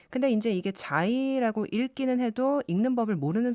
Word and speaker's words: Xi: 근데 이제 그 다음에 문자는 XI, 자이라고 읽습니다. 네. 근데 이제 이게 자이라고 읽기는 해도 읽는 법을 모르는 사람들은 C라고 읽을 수 있거든요.